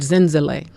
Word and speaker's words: Zenzalai: from the zulu language you can pronounce it in that language zinzale but uh i pronounce it in zele but it really means